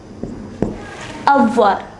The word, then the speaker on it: avoir: Avoir. It is pronounced avoir.